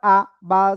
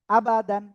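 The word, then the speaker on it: أَبَدًا: হরকত এবং তানউইনের উচ্চারণটা তাড়াতাড়ি পড়তে হয়। হামজা জবর আ, বা জবর বা, আ বা, এরকম যদি কেউ পড়ে তাহলে তার ভুল হয়ে যাবে।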